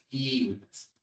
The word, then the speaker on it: civitas: Miren ustedes, efectivamente en el mundo latino, el espacio de la vida pública es lo que ocupa la civitas, así se pronuncia realmente en latín clásico, civitas, que es el equivalente a la polis griega, ¿de acuerdo?